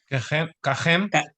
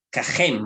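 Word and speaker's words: כָּהֵם: ¿Cómo se pronuncia ahí? Kajem. Kajem, muy bien.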